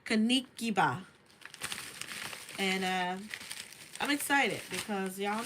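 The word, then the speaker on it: Kinkeliba: Kind of reminds me of burdock leaves, but this is Kinikiba. Kanikiba. That's how you say it. Kanikiba.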